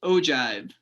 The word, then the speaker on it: ogive: but it's not a usual one and it's pronounced ogive so this is an ogive and i will pretty much tell you that